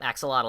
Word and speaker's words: axolotl: the other keyword ex axolotl is that how you pronounce that Wooper animal yep axolotl that's how you pronounce it with an English accent oh alright then it